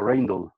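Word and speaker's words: Rijndael: algunas palabras de ellos, lo pronuncian en inglés, ellos no son de Estados Unidos, son de Europa, lo pronuncian como Reindl.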